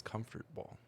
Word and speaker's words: comfortable: there until it gets comfortable comfortable comfortable comfortable comfort comfort comfortable well when you say words and they're like comfortable you might as well be lazy don't add an extra syllable comfortable right comfortable comfortable